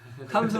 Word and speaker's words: 톰슨: 탐슨 원자 모형, 뭐 톰슨 원자 모형이라고 써 있는데 네. 탐슨이라고 발음해 주세요.